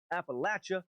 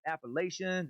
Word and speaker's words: Appalachia: end of the range the natives all pronounce it as follows appalachia and appalachian how you pronounce this word has more meaning to those of us from the area than just mere differences in dialects this is one of the words used to immediately identify you if you pronounce it